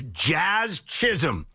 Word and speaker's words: Jazz Chisholm: We will get into the trade deadline, what the Mets won't do, what the Yankees should do, and our reaction to Jazz Chisholm, who I believe just needed the opportunity in New York City to become a star.